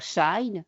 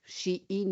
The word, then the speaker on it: Shein: qu'il y a derrière Shine, Shein ou Shine, on prononce des deux manières, vous connaissez, Temu, vous connaissez aussi, TikTok, Snapchat, Facebook, Instagram ou encore derrière l'intelligence artificielle.